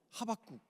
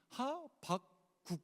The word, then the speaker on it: 하박국: 미가, 나움, 하박국. 저는 하박국이라고 자꾸 발음을 하는데 이걸 어떻게 발음해야 돼요? 여기 아나운서가 아무도 안 계셔가지고 하박국 이렇게 발음하는 게 맞는 거죠.